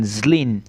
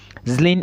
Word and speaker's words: Zlín: This school is called Thomas Bata University and it is located in Zlín. Zlín is spelled Z-L-I-N.